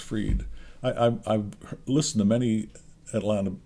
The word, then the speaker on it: Fried: Great pitching by Max Fried, and I have confirmed that it's pronounced Fried.